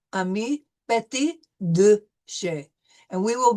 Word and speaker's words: petit: We drop the T when we're pronouncing the word for little, petit.